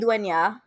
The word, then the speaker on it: Maridueña: yeah, I'm gonna have to learn because then it's Meridueña. It's not Nat, it's Nya, because it's got the accent on the end. Is that right? Maridueña.